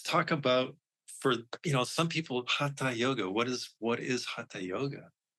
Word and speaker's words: Hatha: You have to take the front of your tongue and you have to put it near your teeth like a TH sound, and you say Hatha yoga.